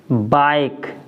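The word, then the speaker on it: bike: बी आई के ई, यानी बाइक।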